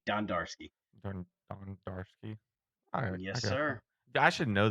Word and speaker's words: Dondarski: complicated than it is it's d-o-n-don d-a-r-dar ski ski Don darski yes sir I should